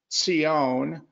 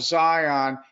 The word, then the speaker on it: Zion: Now in Hebrew, it's pronounced Tzion, but in English we say Zion. I love Zion.